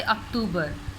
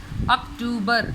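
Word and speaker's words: October: और दूसरी बात बच्चों, उर्दू में आप इसे अगस्त कहेंगे और इसे अक्टूबर, but when it comes to English pronunciation तो आपने ओ की आवाज़ निकालनी है, अगस्त, अक्टूबर। इसे लंबा नहीं करना, आपने साउंड को इसे खींचना नहीं है, अक्टूबर, अगस्त।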